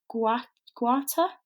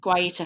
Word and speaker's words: Guaita: Martin Dubravka 7, David De Gea 7, Rui Patricio 7, Vincent, I can't pronounce this. Is it Guata? I'm so sorry for... I think it is Guaita. Guaita, thank you so much.